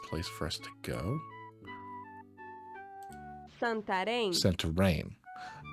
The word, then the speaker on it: Santarém: Santarém. Santarém. I guess the thing over the E makes it.